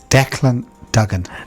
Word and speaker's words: Dean Dugen: the name again sorry Dean how do you pronounce your name Dean Dugen Dean Dugen sorry it's it's a tongue twister